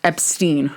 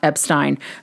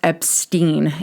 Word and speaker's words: Epstein: about to do so Brian's last name is pronounced Epstein not Epstein publicly as in the Press particularly in the US Brian's last name was pronounced as Epstein due to understanding that to be the more